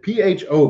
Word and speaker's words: pho: It's called pho. It's P-H-O, but it's pronounced pho.